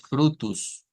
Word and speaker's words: frutos: como plural y miren vamos a decir frutus frutus termina en o y miren se cambia por u ya vamos viendo varias